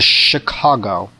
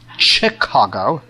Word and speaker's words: Chicago: To Chicago. Now, just so you know, that is a French word, so it's not pronounced Chicago. The CH takes an SH sound. It's Chicago, because the word is French.